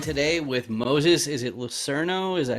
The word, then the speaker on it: Lucerno: i'm joined today with moses is it lucerno is that how you pronounce it lucero lucero lucero there you go okay so how you